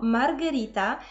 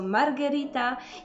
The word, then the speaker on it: Margherita: tam o okrąglutkie Paulo i nawet jeżeli szybko wymawiamy to imię to jednak gdzieś tam musimy się zaokrąglić i ostatnie imię to Margherita jest to odpowiednik naszej Małgorzaty oraz nazwa pizzę